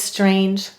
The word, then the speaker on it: strange: me to write it silent final e all right why do we have a silent final ian strange there are two reasons you're right the vowel says it's long sound because of the e and the g softens to j because of the e without it it's a string but with it it says strange let's read it strange